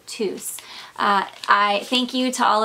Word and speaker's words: Tous: I knew Spanish but you all did say that you do pronounce the S at the end so it is tus so again thank you